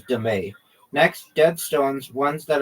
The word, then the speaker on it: dame: Also known as demay.